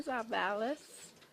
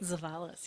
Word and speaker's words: Zavalis: Stream HR2 with Gina Zavalis. Yay. Said it right. Zavalis, yes.